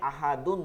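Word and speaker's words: أحد: কুলহু আল্লাহু আহাদ দালে আহাদুন দুই পেশ আছে দালে জজম হবে আহাদ আল্লাহুস সামাদু হবে আল্লাহুস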